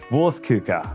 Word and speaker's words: Wurstküche: It's called, it's pronounced worstuka. Worst cooker. Worst cooker.